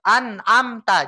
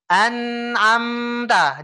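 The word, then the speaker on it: أنعمت: Jadi nggak boleh di asal loncat aja. An-am-ta, jangan. Tapi harus di an-am-ta, ditekan, Pak.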